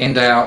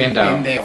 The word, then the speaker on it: Endau: You said in the Endau area. Was that how I pronounce it?